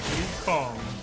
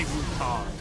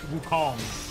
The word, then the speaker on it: Wukong: It's like Wukong. You gotta say it like that. You can't say Wukong. It's Wukong. Next.